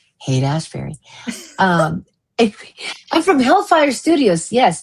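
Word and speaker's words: Haight-Ashbury: Now I can say it correctly, thanks to DJ at Calling All Beings, who taught me how to pronounce Haight Ashbury.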